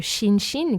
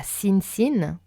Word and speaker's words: Shinshin: Le SH dans le Shinshin, qui n'est pas Shinsin, Usui et non Uzui, Reiki et non Raiki, et enfin Ryoho et non Ryo-o.